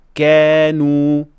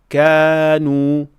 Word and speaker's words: كانوا: بھاری کے درمیان ہو۔ مثلا ہلکے الف کے ساتھ كانوا کہنے کی بجائے بعض لوگ ایسی آواز نکالتے ہیں جو بھاری تلفظ کی طرف مائل ہوتی ہے۔ مثلا كانوا یہ اس وقت ہوتا